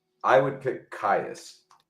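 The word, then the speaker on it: Kyuss: So, so it's Kais. How how do we spell that in case people want to look that up? Uh K Y K Yus.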